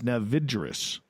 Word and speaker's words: Navigaris: Apparently the password is Navigaris. That's how it's pronounced.